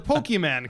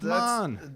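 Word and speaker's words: Pokémon: The thing that offended me the most was how he pronounced Pokemon. He was like, the Pokemon cards. I was like, really? Like, I mean, just a little bit of effort on that one. It's Come on. Mon. It's Mon.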